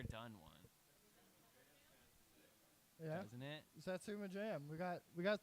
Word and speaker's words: satsuma: one yeah isn't it satsuma jam we got we got strong reactions from the crowd yeah it's actually pronounced satsuma satsuma it's not sounds like a tekken character there's a riff in